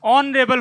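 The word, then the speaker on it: honourable: ये साइलेंट है, इसका करेक्ट प्रोनाउंसिएशन ऑनरेबल होता है।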